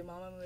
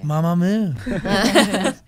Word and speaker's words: Mamamoo: 그 발음이 맞는지 마마무가 맞는지 편하게 해달라고. Just say comfortably, Mamamoo is fine. Mamamoo.